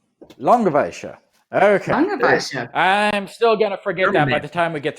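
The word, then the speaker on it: Langewiesche: 70 degrees i'm sorry i do know how to pronounce it it's langoveisha long of asia okay i'm still gonna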